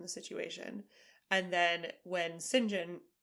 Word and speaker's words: St John: situation and then when singen spelled St John pronounced singen I don't get it